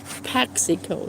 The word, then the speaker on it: Paxico: It's pronounced poxico, not poxy.